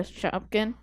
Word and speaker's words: Shopkin: you had a Shopkin and you were like a god. A what? It's spell it for me. A Shopkin. It's shop, just like it sounds. And then Shopkin.